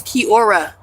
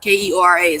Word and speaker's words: Keora: My name's Keora. That's how you pronounce my name, Keora. Keora.